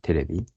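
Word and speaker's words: テレビ: And also the TV and television, we usually say terebi. It's abbreviation.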